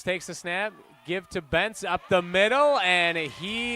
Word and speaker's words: Bentz: Bentz, pardon me, I was pronouncing his name Bench earlier. It's Bentz, Prez Bentz, and Harper Hughes back deep.